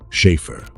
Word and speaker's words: Schäfer: That A is a sound English does not carry, somewhere between the A in care and the E in bed.